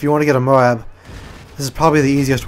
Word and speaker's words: MOAB: talk about the Moab they pronounce it as Moab with two syllables not just as one syllable Mo so yeah if